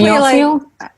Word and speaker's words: Smule: I say Smule. Like singing mule? Say how to say it. Like a singing mule.